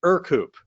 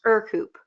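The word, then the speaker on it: Ercoupe: back of their hands said, nope, it is Ercoop. Yes, and no worries, Jeff. I was calling it Ercoop for probably a decade until finally I was corrected. It's pronounced Ercoop.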